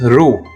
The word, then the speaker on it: ル: The next character is ru.